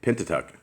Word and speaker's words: Pentateuch: Pentateuch.